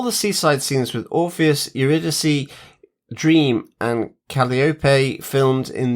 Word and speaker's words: Eurydice: Of course, the C in Eurydice is a K sound.